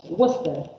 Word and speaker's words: Worcester: Worcester, which is one of the words where many of the letters are not pronounced. Worcester. Worcester. It's written Worcester, it's pronounced Worcester College.